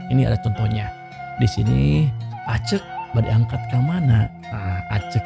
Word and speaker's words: aceuk: Kata pengucapannya accek di e bukan aceuk bukan accek sama beda bunyi. Yang betul ucapannya adalah acek.